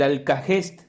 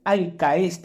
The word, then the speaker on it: alkahest: ya veremos Por qué el alcahest alcahest alcest Depende si ustedes quieren pronunciar la h intermedia no después vamos a